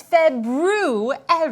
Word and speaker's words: February: Ah, the proper pronunciation for the second month of the year is February.